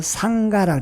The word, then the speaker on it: 상가: 지금은 중이야 중인데 이것을 원래는 산스크립터를 상가라고 했어요 상가 싼가를 중국식으로 발음 난 대로 소리 나는 대로 적은 것이 승가가 됐고 그 승가의 의미가 뭐냐